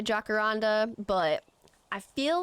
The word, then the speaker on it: jacaranda: people keep telling me it's jacaranda or yacaranda with a Y or an H sound whenever I say jacaranda, but I feel like it's probably yacaranda.